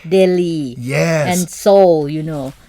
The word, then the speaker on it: Delhi: slightly different what is the famous city like Delhi yeah and so you know you know in